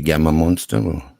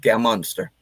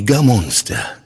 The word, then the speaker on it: Gammonster: you say your name is it bobby gamma munster no no just game monster it's bobby gamonster go and check out